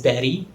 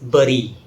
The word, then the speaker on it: berry: Yes, it's pronounced as berry. It's often mispronounced as bury. Bury is the wrong pronunciation. The correct pronunciation is berry.